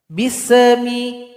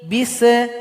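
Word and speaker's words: بسم: Di sini ada huruf sin. Jangan dipantulkan. Bismi. Bise. Enggak boleh dibaca bise. Harusnya dibaca bismi. Jadi alirkan bunyi nafas kita bismi.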